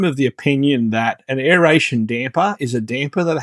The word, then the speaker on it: aeration: Now, I do not understand why I hear on YouTube people pronounce it as aeration. It's aeration.